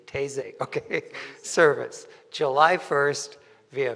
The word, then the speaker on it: Taizé: know have French taizé it's very simple Tay is a because they hear a lot of people very confused how to pronounce is really easy taizé okay service July 1st